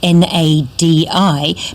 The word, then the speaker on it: Nadi: Fijian gateway town of Nadi, which of course is spelt N-A-D-I, but in Fijian the D is pronounced as an N-D, as in candy, so Nadi candy.